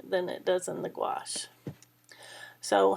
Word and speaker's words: gouache: Gouache is how you pronounce that word, but essentially it's a opaque watercolor medium.